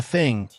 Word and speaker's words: thing: The thing pronounced with a hard th like the English word is the oldest word